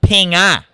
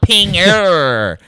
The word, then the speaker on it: pinga: you mean he goes it's pinga ping ah not Pinger we don't do the hard R over here yeah and I was